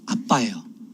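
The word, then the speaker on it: אבא: 더 강조를 하고 있죠 그리고이 아빠라는 말은 아람어로 아빠예요 발음이 똑같아요 우리나라 아빠하고 똑같아요 아빠 아버지는 헬라어 아람어는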